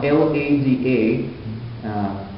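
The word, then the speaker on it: Лада: The modern English word lady comes from L-A-D-A, pronounced Lada in Russian language, and this is the Indo-European goddess of love.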